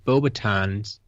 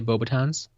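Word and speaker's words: Beauxbatons: The S in Bobatons is silent. Okay. Never really thought about it. I guess I usually do say Bobatons, Sure.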